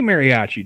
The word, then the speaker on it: mariachi: Check, so I butchered the hell out of mariachi. How do you say mariachi, dude?